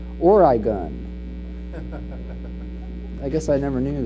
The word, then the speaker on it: Oregon: his rhetorical assertions and he says that orgon is pronounced origon I guess I never